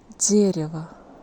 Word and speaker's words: дерево: Here first vowel is stressed and O isn't stressed, that's why we pronounce it more like A. By the way, the second E also is not stressed here, so we need to pronounce it more like E, something between E and E.